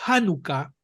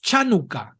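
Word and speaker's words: חנוכה: Si usted transcribe la palabra Hanukkah, así como está escrito aquí, CH Hanukkah, muchos lectores latinos tenderán a pronunciar esa CH como se pronuncia charca. Entonces diríamos Chanukah, y eso es totalmente incorrecto.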